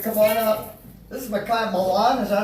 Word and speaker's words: Makiah Malan: This is Makiah Malan, is that how you say it?